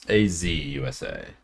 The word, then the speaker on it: Azusa: Yeah, it's AZUSA.